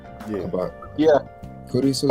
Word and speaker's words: Kurisu: Kurisu is Kurisu. So it actually sounds like a more like Chris, like Kurisu. Chris Kurisu.